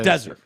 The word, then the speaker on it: Desert: lives here in Maine on Mount oh yeah desert pronounced like Sahara not Sunday Mount desert island how